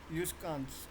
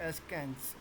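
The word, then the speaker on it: askance: The correct pronunciation of this word is यूस्कांस, इट इज़ नॉट एस्कैंस। Okay, the correct pronunciation is यू एच यू स्कांस, यूस्कांस।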